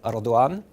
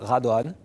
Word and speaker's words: Radwan: my life two pronunciations one is the transition from Morocco which is Radwan so if you can pronounce that that's perfect the pronunciation in France which I've heard also all my life is hard one so and you can